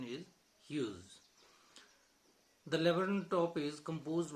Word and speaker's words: Hughes: The spelling is Hughes, the pronunciation is Hughes.